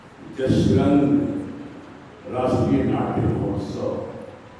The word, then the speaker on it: जशरंग: और आज जो उत्सव है उस उत्सव का नाम है जसरंग राष्ट्रीय नाट्य महोत्सव। योग का वैदिक उच्चारण है ज। अब इसको पढ़िए, ज को य पढ़िए। यश रंग, यश का रंग कहाँ है?